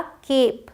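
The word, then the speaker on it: cape: और ई लगने की वजह से, अभी तक देखिए CAP कैप था, बट ई लगने की वजह से ई भले ही साइलेंट है, जो साउंड होगा ए का वो लॉन्ग ए होगा। तो इसे अब हम पढ़ेंगे केप, ए साउंड, ओके।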